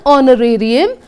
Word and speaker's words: honorarium: Honorarium, H is silent.